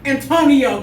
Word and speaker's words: Antoniou: which is where Antonio comes with the extra weird U at the end, because, you know, British people love adding U to a word. Yeah, I thought it was silent. I mean, it definitely is silent, but I was scared to say the name.